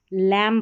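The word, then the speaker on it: lamb: पढ़ा जा रहा है और बी यहां पर साइलेंट लेटर है। बी क्या है? साइलेंट लेटर है। देखिए लैम पढ़ेंगे। यहां पर बी का उच्चारण नहीं होगा।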